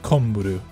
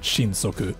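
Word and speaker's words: 神速: actually watch hunter x hunter kilauea's godspeed is pronounced komburu not shinsoku two different words but very similar meanings as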